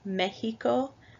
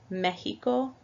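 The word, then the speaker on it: México: A second way is like in Mexico, mexicano, where the X sounds like a J in English. Mexico, mexicano. I'm sorry, like an H in English.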